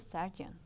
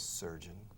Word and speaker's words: surgeon: life it was a sergeant no how do you say that i did surgery listen sergeant sar is sargento sergeant sir yes sir good yes surgeon yes surgeon so would you want